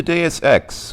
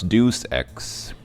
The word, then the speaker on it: Deus Ex: So, So welcome to Deus Ex, which I used to pronounce Deus Ex.